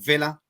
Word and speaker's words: Villa: known as versus royman via uh or Villa as some people pronounce it July the 8th um